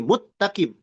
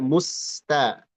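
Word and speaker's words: المستقيم: Hati-hati para pembaca meleburkan sin ke dalam ta. Mustaqim jadi muttaqim. Jadi sinnya dianggap hilang. Ini hati-hati. Hati-hati dibaca muttaqim tapi hendaklah dibaca musta. Musta sinnya dibaca jelas dan ee jangan jadi shad.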